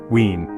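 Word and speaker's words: Wien: But the grandest of them all is Austria's capital, Vienna, or as the locals say, Wen.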